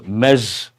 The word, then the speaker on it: Ms: m e z z how do you pronounce mes Miss is one thing misses married not married Miss but irrespective of the